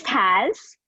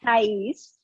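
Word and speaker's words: Thaís: It's Taz. Okay. It's Portuguese. It's supposed to be Thais because I'm Brazilian Venezuelan, but I'm from Montreal.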